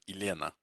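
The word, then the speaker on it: Елена: now listen to that that's a three-syllable um three-syllable name which syllable is stressed first second or third it's the second right so elena now if you break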